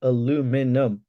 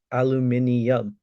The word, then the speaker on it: aluminium: 36 black bee time hill steve says it's pronounced aluminum i disagree it's pronounced aluminium i'm just being a patent uh pedantic but